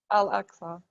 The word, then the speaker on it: Al-Aqsa: about the alas uh the uh am i pronouncing that right the al actually al-aqsa yeah and that's this is a temple mount